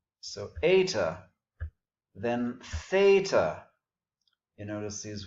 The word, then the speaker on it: eta: This is the long E sound, as in our English obey, A. So eta, then theta.